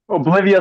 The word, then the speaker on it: Obivea: And I was going to say Obivea or Oblivia. So I was a little confused. I hope I'm pronouncing it correctly. Oblivia is correct.